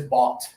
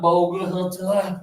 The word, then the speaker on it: bought: Yeah, it rhymes with got, okay? I got a message from my friends, and then I bought. Even though this has O-U-G-H-T, it's not bogut. No, this is just bought. Very easy to say. Students mispronounce it a lot because they try to say all the letters, and you don't have to. It's just bought.